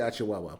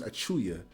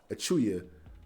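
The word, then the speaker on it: Achiuwa: say his name wrong i always say ah chihuahua but his name is achuya achuya his minutes may decrease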